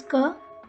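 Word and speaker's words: क: which is this one it is pronounced as pronunciation is ker and one of the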